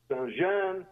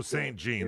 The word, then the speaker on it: Saint-Jean: Okay, I'll start off with one you probably know the name of, Chateau Saint-Jean or Chateau Saint-Jean, if you pronounce it the French way. Chateau Saint-Jean.